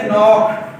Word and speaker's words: knock: और नी क्या होते हैं?